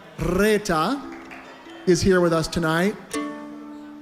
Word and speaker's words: Reeta: Reeta, you have to roll your R with me. Reeta is here with us tonight.